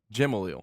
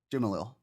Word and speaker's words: Jimalil: Is it Jimalil, Jamaliel, Jimalil? You said Jamaliel. Jimalil. Is that correct? Jimalil.